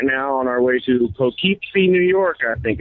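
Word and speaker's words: Poughkeepsie: We are rolling through Connecticut right now on our way to Pokeypsy, New York, I think it's pronounced.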